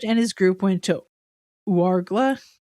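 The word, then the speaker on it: Ouargla: Hart and his group went to Warla.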